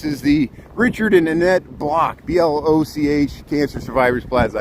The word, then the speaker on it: Bloch: This is the Richard and Annette Block, BLOCH Cancer Survivors Plaza. I got to say it right, the Block, BLOCH Cancer Survivors Garden here.